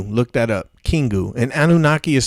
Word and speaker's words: Anunnaki: the grays originally mined gold for the anunnaki okay okay they they had a revolt and